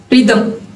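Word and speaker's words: rhythm: अगर कोई word R एच से स्टार्ट हो तब भी जो एच होगा वो साइलेंट होगा। For example रिदम, राइम।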